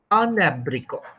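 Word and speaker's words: un abricot: There'll be a liaison or linking between N and A. Okay, that's why I say instead of saying abrico, we don't say it like that. We say anabrico, anabrico.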